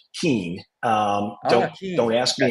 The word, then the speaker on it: Kuehn: my last name because nobody ever gets it right um which is Keen um don't ask me